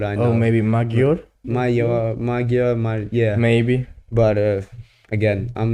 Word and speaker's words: Magyar: lie, like apart from the pronunciation of, I don't think it's Magyar. I think it's a yo sound from what I know. Oh, maybe Magyar? Magyar, yeah.